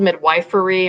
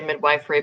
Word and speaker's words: midwifery: It's spelled midwifery. A lot of people say midwifery, but it's midwifery.